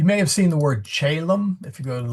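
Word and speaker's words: caelum: C Ae Lu M and Chaum. C O E L U M. They are pronounced exactly the same.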